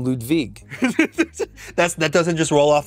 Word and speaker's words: Ludwig: own name you have it's a Ludwig it's Ludwig yeah that's how you say it that's so funny Kathy she was like is it pronounced Ludwig I was like nah it's Ludwig I bastardized it when your parents named